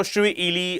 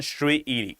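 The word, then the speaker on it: Shirui: So Shuely or Shri Liy there are some other pronunciations uh you know floating over but exact pronunciation Shrii right.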